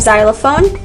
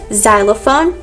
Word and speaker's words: xylophone: it but we have xylophone there's xylophone so the x makes a sound similar to the z so z xylophone and z zenology synology is